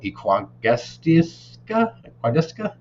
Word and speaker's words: Equagesic: My pronunciation, I think, is terrible. Equagestica, EQUAGESIC.